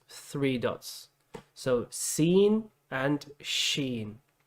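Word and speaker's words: ش: okay okay the fourth which is quite similar sheen sheen sheen sheen like that yeah i like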